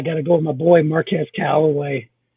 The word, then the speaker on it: Marquez Callaway: go with my boy marquez callaway marquez calloway is the right way to say it in the fifth round